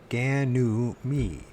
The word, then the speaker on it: Ganymede: Supernatural, give me a Ganymede. I think that's how you pronounce it. Was it Ganymede. Ganymede? So it's like a reed, mead. Ganymede.